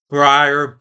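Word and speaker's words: Breyer: Brier, B re, it's probably pronounced the same as Briar's ice cream.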